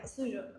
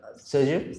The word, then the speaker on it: Soju: Suju. Soju. Soju. Oh my god. I keep mispronouncing it.